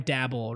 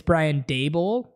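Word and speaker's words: Brian Daboll: the playoffs you know foreign dabble right it's not how you say it how are you guys saying it it's Brian dabel are you correcting me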